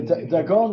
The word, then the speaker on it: Dagon: Not dagon, dagon. Oh, it's in the Brotosaurus, yeah? Yeah. This is my pronunciation. Some kind of fish thing. Right. So Dagon was a famous, in the time of Yehoshua,